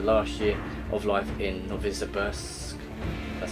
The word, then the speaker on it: Novosibirsk: So witness the story of the last year of life in Novosibirsk, that's how you say it, Metro through the eyes of Colonel Klebnikov.